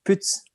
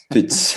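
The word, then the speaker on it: Pütz: Je crois que ça se dit, en allemand, ça se dit Putz. Putz.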